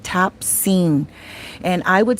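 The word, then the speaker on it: Tabcin: And Tapsine is spelled Tapcin.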